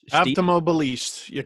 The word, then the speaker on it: Avtomobilist: And Avtomobilist. That's how you pronounce it.